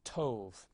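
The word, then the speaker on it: טוב: And so again, this would have to be a holem vav, and this would be pronounced tov.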